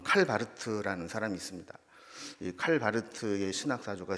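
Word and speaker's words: Karl Barth: 있었었죠 이게 자유주의 신학이었다 칼 바르트라는 사람 그쪽 발음을 칼바르트 이렇게 얘기하는데이 사람에게 가장 중요한 신학적인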